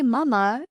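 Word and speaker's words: 妈妈: The pronunciation mama uses a high flat tone repeated twice, like a child's clear, loving call to their mother.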